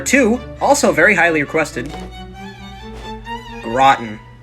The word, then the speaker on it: Groton: also very highly requested rotten what do you mean it's not groton uh-uh groton you shouldn't be surprised